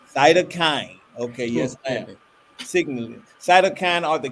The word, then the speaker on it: cytokine: graduate research in and helped me with this pronunciation cytokine cytokine okay yes cytokine are the chemicals that the